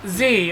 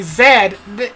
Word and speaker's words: zed: you see that that line only works if you use the european pronunciation or the english pronunciation for z or zed because there's a uk based company so if you say z that rhyme doesn't work but if you say zed yeah it works just fine but anyway the new